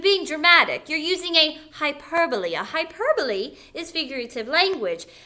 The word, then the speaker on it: hyperbole: When you read the word, I do hear some children say hyperbole. That's not exactly how you say it. Hyperbole.